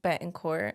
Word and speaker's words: Betancourt: your life story yes so my last name's bet and cor I don't know if you said it right I did benan yeah that sounds right it is right okay